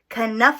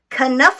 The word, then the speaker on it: Knuffle: we go okay good kind enough Abunimah this up actually you do pronounce the K mm-hmm it's not a silent K it's not a tricky K it's a out loud K kind enough oh yeah I know